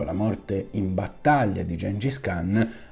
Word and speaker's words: Gengis Khan: D'autres sources suggèrent que les efforts déployés pour cacher les restes de Gengis Khan (prononcer Cinghis Haan, avec l'acca aspiré) sont allés beaucoup plus